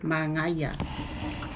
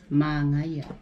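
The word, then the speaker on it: manaia: How do you say nice in Samoan, honey? Mangaya. Now can you say it? Repeat it? My No, have mom repeat it. Repeat it? Mangaya. my Try again. Mangaya.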